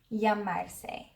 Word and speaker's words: llamarse: It's spelled double L A M A R S E. It's basically the regular AR verb llamar, which means to call, and this funny little syllable se.